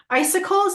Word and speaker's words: icicles: another hard word is so this is tricky split it into two parts like this is because this makes a long I this makes a short I and with the E here this makes a s sound however this C follows with an l so it's going to make the C Sound not the S sound icies like